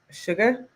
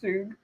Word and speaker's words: Suge: He posted a meme today and I was like, Sugar Knight. Sugar. I love how you guys are teaching me. You guys are fun. Pronounce Shug.